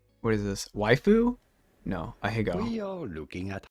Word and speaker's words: ahegao: No, ahegao. We are looking at how to pronounce How to this pronounce Japanese this Japanese word.